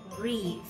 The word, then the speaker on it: wreath: Thì từ này mình sẽ đọc là wreath. Wreath. Từ này khá là dễ, mình đọc ngang lại một âm wreath. Âm cuối này này, mình đưa lưỡi ra, đẩy hơi ra.